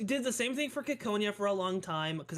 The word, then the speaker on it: Ciconia: Yeah, it's pronounced Ciconia, yes. That is what the katakana reads as, and that is what Rikishi said, because he talked to someone with an accent when he was talking about the name, and he liked the way that it sounded in his accent, so he went with that pronunciation.